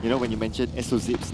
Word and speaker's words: SOZIP: But That's SOZIP, you gotta was call it the- SOZIP. It doesn't actually make any difference. It's like SO-zip.